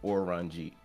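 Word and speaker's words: オレンジ: an orangey um because in Japanese that's how orange is pronounced or ranji which you know Oda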